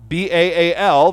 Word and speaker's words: Baal: of his kids was a god named Baal, B-A-A-L, that we in English tend to pronounce Baal.